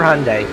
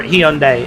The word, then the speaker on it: Hyundai: it a launcher I used to work for Hyundai or Hyundai depending on how you want to pronounce it um so I mean those cars